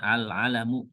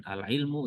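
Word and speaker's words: العلم: yang berikutnya alam alalamu ini bacanya alalamu bukan alilmu ya bukan bacanya alalam alalam artinya nama ya bisa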